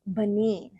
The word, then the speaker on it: Benin: um next revisions um so it is pronounced Benin and that is a West African country so